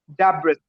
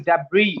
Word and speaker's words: debris: so at that time, I used to pronounce it Dabris, but I came to know that it is not Dabris, it is Debris. Mm-hmm. Debris. The correct Debris. pronunciation is Debris.